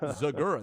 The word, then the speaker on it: Zegura: just as shocked because I am Zegura. That is how I pronounce my name.